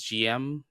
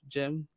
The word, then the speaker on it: GM: I was just about to mention that we might go to a war here, colony war, because I pronounce it as GM instead of Jim.